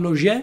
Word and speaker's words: Laugier: martyrs un film di pascal laugier la pronuncia dovrebbe essere questa è francese ma potrei sbagliarmi nel 2008 un film